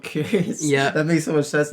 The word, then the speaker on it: QYURRYUS: today we are getting into a song called curious um by the voids it's spelled really weird it's like qy r r